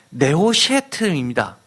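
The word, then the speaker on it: נְחֹשֶׁת: 놋이 히브리어로 하면은 네오셰트입니다. 그런데 뱀은 네앗입니다. 다 자음만 보면 니읒, 히읗, 시옷이 들어갑니다. 즉 구원의 놋뱀, 구리뱀이라고 하는 것은 뱀과 구리는 발음이 비슷한 것을 두 번 반복하면서 잊지 말라는 겁니다.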